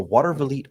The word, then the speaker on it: Watervliet: it's French water lviet Watervliet is pronounced the water of elite Arsenal it's the oldest